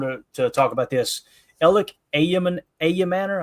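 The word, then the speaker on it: Elic Ayomanor: Elly Ayamor, I think is how you say that name. Some people say Elique Ayam Manor.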